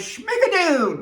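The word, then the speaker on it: Schmigadoon!: The first show I saw when I got to New York was Schmigadoon, which you have to say it like that because there's an exclamation mark.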